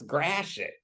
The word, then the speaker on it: Gratiot: that are in Detroit that we pronounce Gratiot but it's really gradual well I mean when